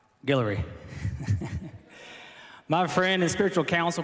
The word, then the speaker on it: Guillory: Bishop Guillory, I said it right, Guillory.